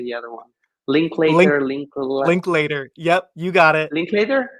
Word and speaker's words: Linklater: Link Linklater, link later.